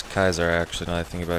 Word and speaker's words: Caesar: ] they can't pronounce Caesar well it is Kaiser actually now I think